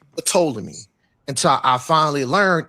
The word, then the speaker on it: Ptolemy: It could be pronounced Ptolemy because the ancient Egyptians were the way they pronounced it was we could pull it up, but it's not Ptolemy. That's Greek, but they pronounced it with the P to T like Ptah.